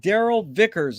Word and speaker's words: Darrell Vickers: honor and a pleasure to be here with daryl vickers is that the correct way to pronunciate it yes it is that is absolutely